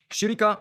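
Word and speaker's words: שחיקה: Shirika is pronounced just as it looks, shirika. It's easy to say and means wear.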